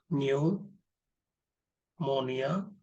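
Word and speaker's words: pneumonia: P silent होता है आपका, न्यूमोनिया, निमोनिया like, निमोनिया like organism, निमोनिया like organism.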